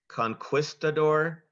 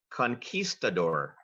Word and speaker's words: conquistador: waterl contestant ready ready your word has two correct pronunciations Conquistador Conquistador may I have the definition